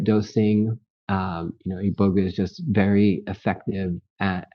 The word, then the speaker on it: iboga: about the ioga uh is it iboga iboga I always say iboga I'm not sure how to pronounce it yeah that's the right way yeah iboga there is some people that say iboga but you know um yeah iboga is is the way to say it and if you go